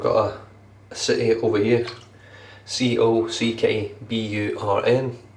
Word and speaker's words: Cockburn: We've got a city over here, Cockburn. Cockburn. No, it's not. It's Cockburn. The CK is silent in Western Australia.